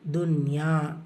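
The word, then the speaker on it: دنيا: ஏன்னா சில வார்த்தைகள் எக்ஸப்ஷன்ஸ் இருக்கும் இல்லையா, அது மாதிரி துன்யா அது எக்ஸப்ஷன். இது எப்படி ஃபைன் பண்ணுறது அப்படின்னா, இப்போது இதுகாம் நீங்கள் கவனிச்சிங்கன்னா, இதுகாம் பில்குன்னா நூன் சுக்குனுக்கு அப்புறம் யா வரும்போது யால ஷத்தா இருக்கும். ஸோ நீங்கள் ஒரு சின்ன ஹிண்ட்டு மாதிரி தான், யால ஷத்தா இருக்கும். ஆனால் இந்த இடத்துல யால ஷத்தா இல்லை. ஸோ அதனால நம்ம இதுகாம் பண்ண மாட்டோம்.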